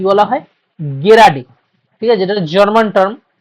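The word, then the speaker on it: gerade: গেরাডি। ঠিক আছে? যেটা জার্মান টার্ম। জার্মান না রাশিয়ানটা ভুলে গেছি গেরাডে ঠিক আছে অনেকে জেরাডে বলে অনেকে গিডে বলে আসল উচ্চারণটা গেরাডে আর উন গেরাডে ঠিক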